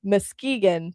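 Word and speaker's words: Muskegon: Um I keep wanting it's it's feels like Oregon at the end and I keep wanting to pronounce it in that way. Mkegan, thank you chat.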